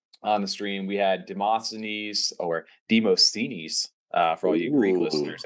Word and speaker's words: Demosthenes: But yeah, for all the Greek listeners out there, Demosthenes is how you pronounce that if you got a little bit of Greek in you.